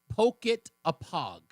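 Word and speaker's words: Pocotopaug: She says that you pronounce it. I'm going to do it with you. It's poke a pog.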